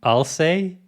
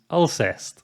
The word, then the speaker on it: Alcest: knowing this band is from france i've been pronouncing the band name i'll say like i'll say but i quickly looked into it before making this video and found that the correct pronunciation is ulcers occam's razor wins again i've been into black